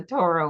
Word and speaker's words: Torah: to share that the the center of Torah is or which you can't hear if you pronounce it this way. you need to pronounce it the Torah way to hear the or in the middle of the Torah.